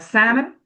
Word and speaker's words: salmon: So what about the words that have silent letters in the middle of the word? like salmon, So so Salmon.